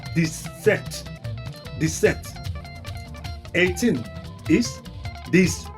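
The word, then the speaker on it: dix-sept: It's just like adding 10 to seven. This you know 10 is this and seven is set. So 17 is this set.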